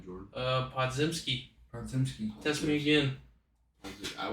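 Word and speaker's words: Podziemski: How you pronounce his last name, Jordan? Podzimski.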